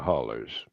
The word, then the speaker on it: hollow: yeah and in the hollers yeah and yes I did pronounce the word Hollow as holler because I'm from there I know the language